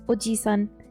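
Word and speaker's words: おじさん: Because it's not Oji. Oji. Oji, if it's a long I sound, that's grandpa. But this is Oji-san. Uncle.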